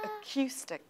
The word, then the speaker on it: acoustic: on the second syllable it is on the second syllable over here okay acoustic acoustic acoustic acoustic right